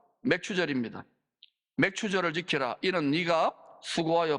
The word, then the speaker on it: 맥추절: 맥추절은 이 발음이 좀 거시기하잖아요. 맥주절이 아닙니다. 맥추절입니다.